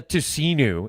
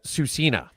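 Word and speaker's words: Tsuut'ina: It's not the tusen, it's the susena.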